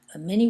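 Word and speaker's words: 马: so another radical is my last name ma which means horse and it's pronounced in the third term and you can stand on its own it's MA and then if you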